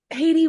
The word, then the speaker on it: Haydee: was bound and determined to pronounce your name the way it's originally supposed to be pronounced and not the Americanized version and it's yes practice